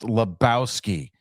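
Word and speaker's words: Lebowski: oh my God the it's pronounced Labowski okay we know which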